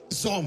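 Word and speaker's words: צום: अब उपवास जो वर्ड आता है वो वर्ड है ज़ोम। बोलिए ज़ोम। स्टार्ट टी से होता है, टी साइलेंट है वहां पे।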